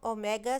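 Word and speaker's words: omega: Angular velocity को हम ओमेगा से रिप्रेजेंट करते हैं। ये जो स्मॉल w टाइप सिंबल है इसे हम ओमेगा प्रोनाउंस करते हैं।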